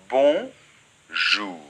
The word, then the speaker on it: bonjour: des devant geagea 1 cette partie seulement donc bon jour ensuite très important les deux lettres aux é-u